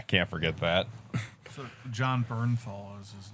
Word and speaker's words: Bernthal: Oh, Bethanol. Josh Bethanol. Bernthal. I thought his name was Bethanol. Yeah, no, it's Bernthal.